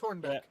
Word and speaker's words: Hornbeck: Is it Hornbeck or H-O-M? It's H-O-R-N, right? It's Hornbeck. Yeah. Yep, you've been saying it right.